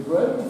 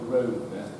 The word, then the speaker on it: Grosvenor: Because it's only in relatively recent terms they've softened the name down to Grosvenor. They used to pronounce it Grosvenor, which of course means master of the hunt or big hunter.